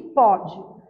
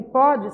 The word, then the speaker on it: pode: Porém, na hora de pronunciar, o som fica diferente dependendo do acento diferencial que eu coloco.